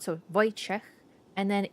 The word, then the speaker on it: Wojciech: First time I came across the name Wojciech, the pronunciation was way different than what I expected. It's actually very simple. W is a V sound in Polish. We don't have the letter V. O is O.